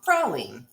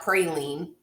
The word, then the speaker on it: praline: filled king cake now this is a pecan praline which is how you say it it's not pecan pecan it's not pretty lean come on crawling crawling